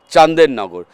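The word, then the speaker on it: Chandernagor: লক্ষ্য করি তখন সেই জায়গাটার নাম হয়ে যায় চান্দেরনগর বানানটা তাই সি এইচ এন ডি আর এন এ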